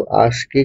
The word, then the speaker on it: ASCII: तो आस्की का full form होता है American standard code for information interchange. इसको हम ऐसे प्रोनाउंस करते हैं, आस्की।